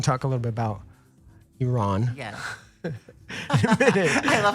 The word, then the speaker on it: Iran: Iran. People, not Iran. Iran.